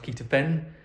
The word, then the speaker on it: ketotifen: So taking something called ketotifen, it's pronounced ketofen, but ketotifen kind of suppresses that mast cell activation.